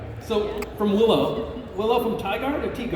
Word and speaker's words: Tigard: From Tyigard or Tarduard? Tigard.